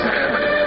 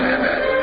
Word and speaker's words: Muhammad: According to Ben Yehuda's Hebrew English Dictionary, it is correctly pronounced as Muhammad, not Mehmet. So how we're going to know for sure if it's pronounced as Muhammad, the Muslim prophet?